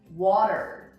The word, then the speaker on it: water: The way to pronounce this is actually make this into a D sound. So you're gonna say water.